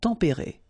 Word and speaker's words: tempérés: Final S, not pronounced, but then you should definitely pronounce the accent.